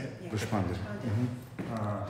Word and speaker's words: Deshpande: And first place goes to Deshpande. Is that how you say it? Yeah. Deshpande. Mm-hmm. Deshpande.